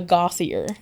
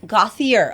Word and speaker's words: Gauthier: If it makes you feel better, uh, Gothier. Gothier. Okay, so I've never pronounced it that.